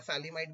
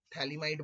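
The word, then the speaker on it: phthalimide: इसको थैलीमाइड भी कहते हैं या फेलिमाइड भी कहते हैं, आपकी मर्जी है। थैलीमाइड बोल दो, पी साइलेंट कर दो।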